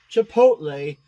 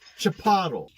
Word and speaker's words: Chipotle: And apparently, Chipotle is pronounced Chipotle.